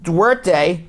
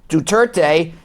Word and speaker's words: Duterte: Trump and President Duarte, am I pronouncing him right? Duterte, in Manila, Philippines, they bonded.